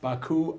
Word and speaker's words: Baku: Okay, Baku, Azerbaijan.